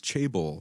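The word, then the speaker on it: chaebol: corporate conglomerates known as Jan how do I pronounce this is it chable yeah corporate conglomerates known as chable South Korean people face incre inly Bleak prospects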